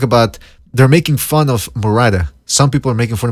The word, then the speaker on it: Murata: Murata. Okay, well, you gotta say it like a Spanish. Murata.